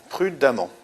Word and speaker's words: prudemment: Prudemment, on prononce amant, donc on a une terminaison en deux M.